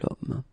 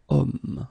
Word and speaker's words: homme: Okay, and it's not a vowel at all, but then in French we don't pronounce it.